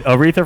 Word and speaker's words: Aretha: who died on Thursday who is who was urethra Franklin that's not singer lady she sued she sings that respects song I think great you mean Aretha Franklin oh yeah oh no pronouncing oh no